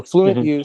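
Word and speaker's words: FluentU: Uh and also there's one called Fluent U as in fluent univers. I don't know. It's university. I think it's actually U as in you. So Fluent You, Speech, and Elsa.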